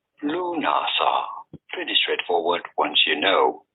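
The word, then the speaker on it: Lughnasadh: How do you go about pronouncing it? Lunasa. Lunasa.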